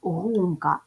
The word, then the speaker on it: гумка: гумка ділимо на склади ставимо наголос гумка наголос падає на перший склад називаємо приголосні звуки г